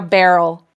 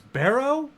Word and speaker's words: Barrel: a barrel like a barrel that's literally not like thomas from downton abbey not his name one of my notes is barrow barrow what are you saying barrel with an l um so he